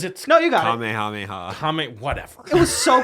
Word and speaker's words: Kamehameha: JT, how do you say it? Kamehameha. What did I say? You said Kame Kameha.